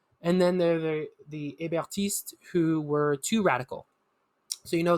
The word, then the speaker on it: Hébertistes: So within the Mountain, there were the Hébertistes and the Dantonists, right? So Hébertists and Dantonists, if you don't know how to pronounce it in French.